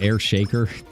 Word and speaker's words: Air Shakur: Ooh, and Air Shakur is up. I guess they pronounce it Air Shaker.